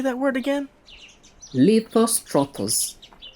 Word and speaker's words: Lithostrotos: Lithostrotos.